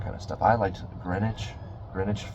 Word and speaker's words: Greenwich: I liked Greenwich. Greenwich. It's spelled green witch like sandwich but green witch but they pronounce it greenwich.